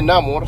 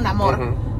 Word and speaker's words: Namor: puso a sí mismo, Namor, pero así es como lo pueden pronunciar, o sea, como si tú lo ves escrito y tu idioma original es inglés, es Namor.